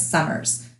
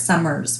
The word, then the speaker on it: Summers: with, her name is Summers. And I'm not saying it wrong, it's not Summer, it's Summers with an S at the end.